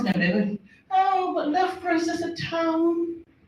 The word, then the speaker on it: Loughborough: So if you're going to tell people you're going to Loughborough, it's good to learn to pronounce it. So it's Loughborough.